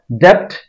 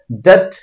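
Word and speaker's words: debt: মোগেজ মোগেজ এটাকে আমরা দ্যাট উচ্চারণ করি এটার অর্থ ঋণ এই দ্যাট উচ্চারণটা আসলে ভুল উচ্চারণ এটা শুদ্ধ উচ্চারণ হবে ডেট বি এর উচ্চারণ হবে না ডেট ঋণ ডেট ডেট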